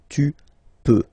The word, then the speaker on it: peux: Then tu peux, same pronunciation and same spelling or writing. Okay, P-E-U-X. Okay, don't pronounce the final X. Tu peux.